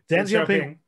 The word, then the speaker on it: Deng Xiaoping: So, Deng, Simon, I'm gonna mess this pronunciation up. Deng Xiaoping, did I get that right? Deng Xiaoping, perfect.